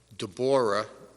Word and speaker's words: Deborah: Item 7.2 is the discussion and resolution approving the hiring of Deborah, is how it is pronounced, Arginius, for the position of part-time clerk, building department, at an hourly rate of $17.